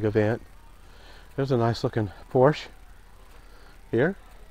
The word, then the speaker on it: Porsche: there's a nice looking Porsche here Porsche however you want to pronounce them I think Porsche is a correct name a lot of people just say Porsche now that's what I